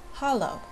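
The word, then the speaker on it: Halló: words starting with hello hello is pronounced Hollow yes is pronounced yes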